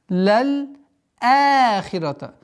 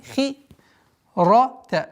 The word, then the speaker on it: لَلْآخِرَةَ: Лаль ахирата. Ахирата. Вот удлинение в размере двух огласовок подчиняется фатхе. Лаль ахирата. Хи, здесь мягкий звук, хи, ра, та, ра, потверже, хирата.